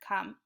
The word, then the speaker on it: come: me an e e that E is silent isn't it we cannot hear it in the word come all right so we